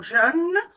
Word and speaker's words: jeûne: Et le mot jeûne, comme fleur, heure, ça se prononce ainsi, les rochabeb. Comment on place notre bouche? Pour le mot jeûne, veut, peut, vous voyez, la bouche doit être très fermée.